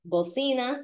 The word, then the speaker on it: bocina: They've got like how many bocinas? A bocina, B-O-C-I-N-A, like cocina kitchen, but with B.